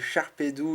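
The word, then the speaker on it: Sharpedo: le Charpedou parce que moi je dis Charpedou, c'est un tic d'enfance, j'ai appris à le prononcer comme ça étant petit, et on n'arrête pas de me dire qu'il faut dire Charpedo, je suis d'accord, mais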